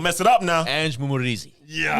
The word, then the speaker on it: Mumporeze: do Mumporeze. I didn't see it. There we go. P is silent.